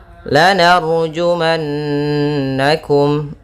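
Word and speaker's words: لَنَرْجُمَنَّكُمْ: lanarjumannakum. Ra tebal yaitu didahului fathah. Jumannakum. Nah, di sini ada nun bertasydid yaitu bacaan gunnah.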